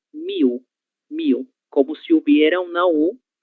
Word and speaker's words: mil: Em português, leitura correta será miu.